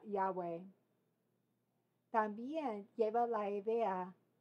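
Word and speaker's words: Yahweh: agregado vocales a esto hemos agregado vocales y pronuncia yahwe también lleva la idea yahve o Jehová otros nombres en esto en el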